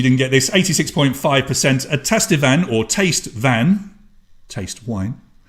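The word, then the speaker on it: tastevin: Tester van. And that is how you say it, because I looked it up to be absolutely sure.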